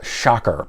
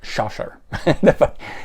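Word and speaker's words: Schacher: we've got uh Mel someone says pronounced male shocker but with the CH in there I didn't know if it was shusher people tell me that's incorrect so male shocker and Don Brewer and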